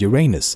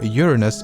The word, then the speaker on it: Uranus: Oh, and 63 Earths can fit inside Uranus. Both pronunciations are correct, by the way, but as astronomers and most of the scientific community seems to prefer Uranus over Uranus.